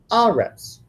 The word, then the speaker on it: eretz: For example, eretz, earth, land. We're probably familiar with that. And sometimes when the accent goes onto that first syllable, it's going to be aretz.